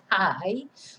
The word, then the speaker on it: pie: And I do like this word because of course it looks like pie, but you just have to remember to pronounce the vowel. So it's pie.